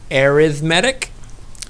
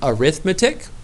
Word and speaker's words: arithmetic: people pronounce this word arithmetic some people pronounce this word arithmetic I usually call a sequence arithmetic that's just my own personal preference you could say either one and you would be correct it just depends what